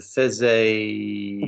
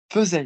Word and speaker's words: faisait: Si se faisait... What do you do, Brendan, for the pronunciation of that word? I've told you before. Faire. Faisait, not faisait.